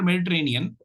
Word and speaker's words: Mediterranean: so this is the this is the logic why not tear when why the stress is on on a and not on there and so look at